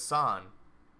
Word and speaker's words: San: scoodle oh it's son I heard somebody say it like kind of like sand without the D so San so it's son oh so I was right the first time gosh dangly dang it